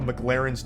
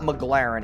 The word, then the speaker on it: McLaren: spends filling up a McLaren's tank. Okay, so this part pisses me off because he says the name wrong like 8 times in a row. It's not McLaren, it's McLaren.